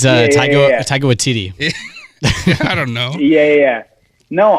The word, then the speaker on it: Taika Waititi: Takiti Wahidi or whatever his name is. It's Taika Waititi.